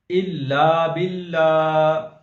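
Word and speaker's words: إِلَّا بِاللّٰهِ: अगला लफ्ज़ हिज्जे के साथ पढ़ते हैं, इल्ला बिल्ला, हमजा लाम जेर इल, लाम अलिफ जबर ला,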